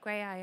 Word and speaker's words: Graeae: So I would say Grey Eye are it's spelled Graeae.